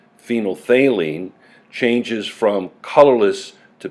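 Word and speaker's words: phenolphthalein: over a specific range phenol thaline pronounced phenol thaline changes is from colorless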